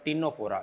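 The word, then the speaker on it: Ctenophora: इसका दूसरा नाम है स्पंज, तीसरा नाम है सिलेंट्रेटा और चौथा नाम है टीनोफोरा। इसमें सी साइलेंट है, टीनोफोरा।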